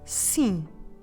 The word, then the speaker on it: sim: So just leave your mouth open, make sure the air is flowing through your nose as well, you know how to do it. And let's say it again together. Sim.